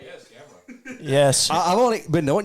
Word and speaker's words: Gamerra: Yes, Gamerra.